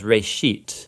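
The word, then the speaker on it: בראשית: it's called Genesis Genesis comes from a Hebrew word it's pronounced for a sheet and it just means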